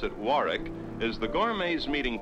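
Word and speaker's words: Warwick: the patrons in between Floor shows the Warick Hotel they pronounce it Warick is the Gourmet me meeting place on Thursdays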